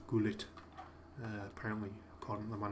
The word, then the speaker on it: Gullit: Huggett as well, or it's actually pronounced Gullit, apparently, according to the man himself.